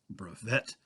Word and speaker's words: brevet: is known as a brevit rank also pronounced brevette although actually it's a French word so it really should